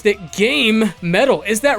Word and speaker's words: GaMetal: game soundtracks that would be sweet I always pronounce that game metal is that wrong no that's actually the technically correct pronunciation I just say gamma metal because it's it's easier for me to say